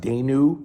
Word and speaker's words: Danu: I pronounce it Danu, like Dana.